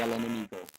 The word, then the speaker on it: Enemigo: Well, George, I am smoking the El Amingo. Am I pronouncing that correct? The El Enemigo.